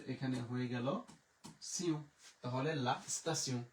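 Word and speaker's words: la station: তে ই ও এন আমাদের এখানে হয়ে গেল সিউ, তাহলে লা স্তাসিউ, লা স্তাসিউ, লা স্তাসিউ।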